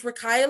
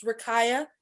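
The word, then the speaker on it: Rakiyah: um you can reach me my name is rakaya my email address is rikaya spell it r-a-k-i-y-a-h at coleman dash equipment dot co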